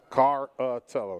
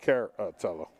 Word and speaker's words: Caratello: it wrong Dustin carrotello caratello car uh Tello not care uh Tello got it Williams